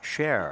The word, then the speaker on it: Scherer: His last name is pronounced Cher.